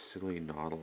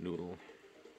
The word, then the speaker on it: Silly Noddle: It's Silly Noddle, not Noodle.